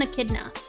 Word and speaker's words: echidna: Okay, so it is pronounced echidna.